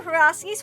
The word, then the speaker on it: Przewalski's: I'm a Przewalski's horse. I don't know about that. They're from Mongolia. And I'm pronouncing it that way because that's how Sir